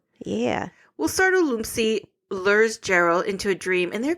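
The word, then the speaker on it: Jarrell: He even asks later in the movie, he's like, why do you keep pronouncing my name with a Y? It's Gerald, not Yerl.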